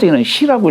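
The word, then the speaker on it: 使: 그런데 요게 어떤 누구를 대신해서 신부름을 간다든가 할 시라고 읽어요.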